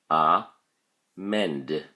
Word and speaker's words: amend: look at your flashcard amend has two syllables ah mend and the emphasis or stress is on the second syllable mend you can see this